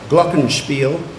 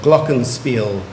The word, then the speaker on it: glockenspiel: thank you and number 18 you have two pronunciations for your work you can either have glockenspiel or glockenspiel glockenspiel or glockenspiel glockenspiel g/l c k e